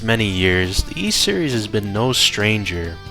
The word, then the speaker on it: Ys: you would love the E Series yep that's right the E Series now you might be wondering how the letters y and S are pronounced e well don't worry about